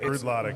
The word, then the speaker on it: Bruichladdich: I want to hear And you pronounce this Irish whiskey. Say it. is it Brudlovic? Broodlotic. Bruichladdich.